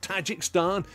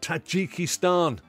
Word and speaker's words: Tajikistan: is there Tajikistan now 61 years of tajikstan has been altered mentally to the correct pronunciation of Tajikistan this for me will